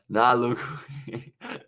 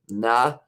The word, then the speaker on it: Nalugwe: Nya. Is it Nya? Nya Luwe. Nalugwe. The second pronunciation was right as well. Nalugwe as well. I was a mile off, I think, for that part. So it is Nalugwe.